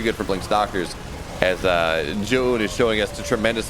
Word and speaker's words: Zoun: Zoun is how it's actually supposed to be pronounced.